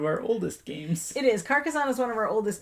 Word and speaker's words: Carcassonne: wars game star wars carcassonne i am definitely pronouncing that wrong that's how we pronounce it carcassoni carcassonne is one of